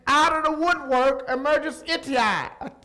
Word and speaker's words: Ittai: David is having reversals, and out of the woodwork emerges Ittai. How do you say that, Mike? Help me. Ittai, all right?